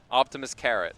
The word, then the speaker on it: OpTiMiStC: But Optimist is uh I think his preferred pronunciation, but he accepts optimistic.